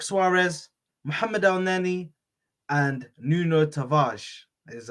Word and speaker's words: Tavares: Cedric Suarez, Mohamed Elneny, and Nuno Tavares is how it's said apparently.